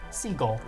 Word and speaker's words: Seagal: a serbian citizen somehow the last name is pronounced seagull that's not surprising it's